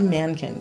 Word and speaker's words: Mahnken: chapter of life and the H by the way is silent so if you're looking at the median either we give it a little breathy thank you yes but if it's actually Mankins so if you just